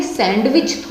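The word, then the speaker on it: sandwich: तो इसमें कौन सा लेटर साइलेंट रहा, डी। डी को ये समझ लिए कि हमने आंख बंद करके सैंडविच बोल दिया और डी को हम भूल गए, तो यहाँ पर डी वर्ड जो है साइलेंट रहता है।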